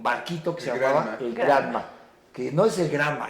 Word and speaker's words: Granma: que se llamaba el Granma, que no es el Granma, es el Granma, es la abuela. Pues, es la abuela. Pero luego los cubanos, como todo lo pronuncian bien raro, es el Grama.